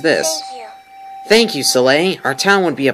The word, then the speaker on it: Soleil: Oh, Soleil. That's right, that's how it's said. I've been saying Soleil.